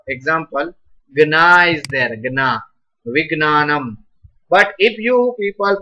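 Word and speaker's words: विज्ञानम्: Now, as per their pronunciation, it is Gna. Right. So, this one should be Gna. Now, some people are pronouncing as Gya. then I can't accept this. Right? As per this, jha and ya, jya, but that's absolutely wrong.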